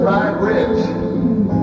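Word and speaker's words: Nietzsche: One of my favorite philosophers, old Fried Rich, that's how I say it because that's how it's spelled.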